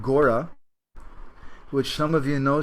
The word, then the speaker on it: gora: reads indic languages but the first three syllables there is actually one syllable is go in bengali and then the second is oriya and it says ra and it's a long a so the the name